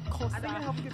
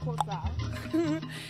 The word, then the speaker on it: Xosha: Xosha. You, like, go into African dance as you do it. Xosha. It helps get the click out.